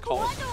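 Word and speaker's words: Colosseum: Your allies being That's crazy too, because it's just pronounced Coliseum.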